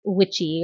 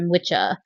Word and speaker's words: wicca: We were thinking of the cunning folk, but we went with that word, which of course was I believe it would have been pronounced witchy or witcha. But of course that's modern day Wicca, right?